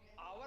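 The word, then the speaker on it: hour: घंटा जिसे आजकल आप कह रहे हैं, अंग्रेजी में आवर कहते हैं, उसमें हा होता है एच, लेकिन कहते हैं साइलेंट है, अर्थात बोला नहीं जाता, शांत है।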